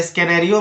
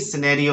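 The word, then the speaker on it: scenario: Next है सिनेरियो, तो सिनेरियो में भी आपका एस के बाद सी आ रहा है, इसलिए स्कैनेरियो मत पढ़ना, यहां पर भी सिनेरियो है।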